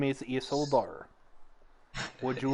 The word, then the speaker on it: Isildur: After Isildur, is that how you say his name? Isildur.